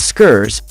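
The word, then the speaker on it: scarce: did he know that the correct way of pronouncing it is skurs just like how you pronounce scares the letter u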